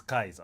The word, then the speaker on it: Caesar: So Caesar, it's Caesar, but like the correct pronunciation is Kaiser.